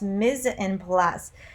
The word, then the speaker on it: mise en place: the museum plus is derived from a french language and it's pronounced miz and plus this is mandatory section